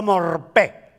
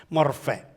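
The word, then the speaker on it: μορφή: Cuando él se refiere a Jesús diciendo siendo en forma de Dios, usó la palabra morfé o morpé, pero creo que se pronuncia F, la P, morfé, y significa lo que uno es por fuera corresponde a lo que uno es por dentro.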